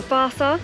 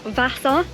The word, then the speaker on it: Vasa: It's actually called the Vasa, not Vasa, as I would say it, because that's how it's spelled, and obviously me and pronouncing things are never any good.